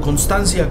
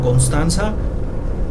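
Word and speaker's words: Konstanz: Constanza o Constancia, como ustedes quieran pronunciarlo. Aunque sería mejor que lo hicieran como Constanza.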